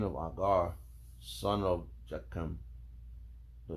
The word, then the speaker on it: Agur: The saying of I just learned how to pronounce this right now. It's a Hebrew name. Agur. A-g-u-r.